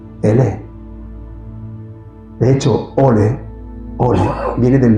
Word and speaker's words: Allah: En árabe, andalusí, la A se pronunciaba como si fuera una E. Por eso no digan Allah, digan Ele.